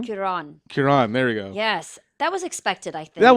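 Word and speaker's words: Cuarón: how do you say his last name Kiran Kiran there we go yes that was expected I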